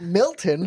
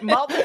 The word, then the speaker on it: Malton: where do we stay we stayed in like Malton Malon not not Milton yeah or Walton or Halton yeah not hon or or Milton but Molton which is a third place I didn't know existed I